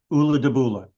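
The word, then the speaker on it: Ulladubulla: then Ula again, but it's one word and it's pronounced Ula de Bula.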